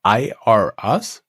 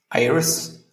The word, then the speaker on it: Iris: Your tool is called IRS, right? Iris. Yeah, Iris. The name of the platform. Exactly. Yeah. Spelled like IRS.ai.